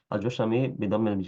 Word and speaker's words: الجشمي: والجشمي sorry أبو الأحوص بالحاء والصاد المهملتين واسمه عوف بن مالك الجشمي بدم الجيم وفتح الشين المعجمة منسوب إلى جشم جدي قبيلة.